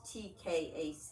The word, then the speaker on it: Tkach: Yes, my first name is and my last name is TKACH. Tkach? It's just the T is silent.